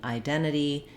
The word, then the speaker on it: identity: To get this word identity, you may want to move slowly, identity or identity. Notice how when I go slowly, it's more natural for me to use those T's. When I say it quickly, it's more natural for me to drop that first T and flap the second T.